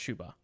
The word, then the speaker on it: Shuba: cake oh your name i thought you were saying shiba inu but your name is pronounced shuba okay got it i